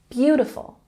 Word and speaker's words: beautiful: Beautiful has the emphasis on the first syllable. Beautiful, beautiful.